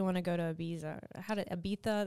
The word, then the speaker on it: Ibiza: Ibiza, that's how they say it.